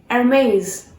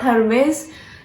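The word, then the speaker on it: Hermès: So our next brand is Hermes. No friends, this is not Hermes. You have to pronounce this brand as Hermes. H has to be silent. Hermes.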